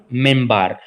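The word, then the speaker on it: منبر: एंड A pulpit, जिसको मिनबार कहा गया है, प्रोनाउंस्ड मिनबार, इसको मिनबार भी कह सकते हैं उच्चारण करते हुए, वैसे इसका नाम मिनबार है।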